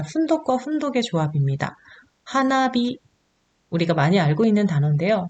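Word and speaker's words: 花火: 있는데요 하나하고 희가 만났어요 두 개 이상의 단어가 합쳐질 때 뒤에 오는 단어가 타그마 되는 경향이 있다 그랬죠 그래서 하나 아니라 하나비가 된 거고요 오른손이라는 뜻의 미기태 오른쪽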